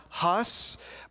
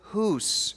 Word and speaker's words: Hus: looked at as John Huss but I would argue that his name is hoose it rhymes with goose and that was his